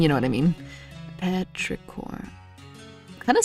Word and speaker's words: petrichor: how do you spell petra core anyway oh that's not wow okay it's not a silent p i mean you know what i mean petrichorn kind of sounds like